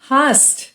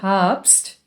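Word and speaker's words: hast: दैट्स द इनफल यू हास्ट हास्ट सो इट्स नॉट अ हप्स it's without a बी एंड इट्स हस्ट we just say डू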